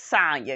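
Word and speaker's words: Sanya: know sonya sonya yes sonya because it rhymes with tanya she gets to tell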